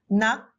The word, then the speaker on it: 낙: For example, k, k, k is pronounced as k. So you should read them, nak, knock, knock, totally same.